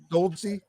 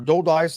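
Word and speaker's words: Dolidze: against uh roman uh goldensea uh or dole dice i think is how they pronounce it but uh he's uh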